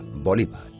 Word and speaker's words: Bolívar: El 17 de diciembre del año 1830, Simón Bolívar murió de tuberculosis. En algunos países europeos, su apellido se acentúa en la segunda sílaba, Bolívar.